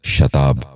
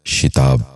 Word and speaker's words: شتاب: غور سے سنیے، شاکر۔ تیسرا لفظ ہے شتاب۔ یہ غلط تلفظ ہے، درست تلفظ ہے شتاب۔ دوبارہ سنیے، شتاب۔ بچوں آپ بھی غور سے